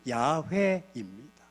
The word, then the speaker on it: 야훼: 따라서 사람들은 여호와라는 하나님의 이름이 너무나 거룩해서 여호와, 우리는 여호와라고 하지만 성경의 정확한 어휘는 야훼입니다.